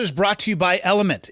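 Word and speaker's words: LMNT: Today's episode is brought to you by Element. It's spelled L M N T like it is on the can. Don't be afraid to just say element.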